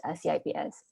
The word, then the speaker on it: CIPS: everybody here um it we often refer to as chips because c is pronounced with a cha in in indonesia so